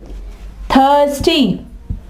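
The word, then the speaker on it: thirsty: सबसे पहले हम पढ़ते हैं कि थे की आवाज कहां पे निकालता है? थे की आवाज। जी। इसकी एग्जांपल क्या है? थस्टी। थस टी प्यासा थ टी एच थ स्टी थस्टी थस्ट टी थ की आवाज निकल रही है ना थस्टी इसके अलावा थीम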